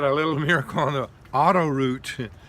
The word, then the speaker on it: autoroute: And it reminded me of a time in France where we had a little miracle on the autoroute. Can you say autoroute? That's how they say it.